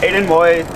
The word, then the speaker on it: Aidan Woith: Yeah, my name's Aidan Woith. That's my Instagram too. Spell it out, no one will know.